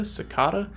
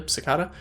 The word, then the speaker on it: cicada: with dried cicada sakata I know it might sound odd the way that I pronounce that to some of you but I grew up in the southern portion of the United States where we obviously pronounce everything extremely correctly and don't have weird accents or nicknames or anything dried cicada sakata will